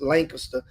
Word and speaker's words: Lancaster: and of course L uh Lancaster you guys Lancaster is the proper pronunciation always call him Lancaster just always like